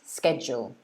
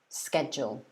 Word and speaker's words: schedule: i've heard both um so the first one is actually british pronunciation so if you look in the dictionary it will say that the first one is uk schedule um and the second one is american pronunciation schedule however we use both